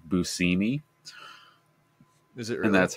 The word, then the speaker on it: Buscemi: Like when you realize that it's actually pronounced Steve Buscemi.